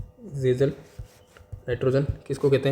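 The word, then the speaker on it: Kjeldahl: अब इसमें एक और इम्पोर्टेंट टर्म है गेजल नाइट्रोजन, ठीक है, के इसका प्रोनाउंसिएशन है जेजल नाइट्रोजन किसको कहते हैं, ठीक है, नाइट्रोजन अमोनिया, जेजल नाइट्रोजन अमोनिया।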